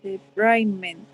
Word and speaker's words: debridement: Yeah, but in where it says irrigation and debridement. Oh, which? Yes. How do you pronounce the second word?